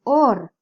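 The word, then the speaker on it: אור: Porque tiene una Vav en el medio. La Vav en el medio, como dijimos, puede pronunciarse como una O puede pronunciarse como una U.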